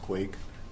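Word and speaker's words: Quwek: ahead mr quake actually q-u-w-e-k no thank you pronounced quake uh actually i just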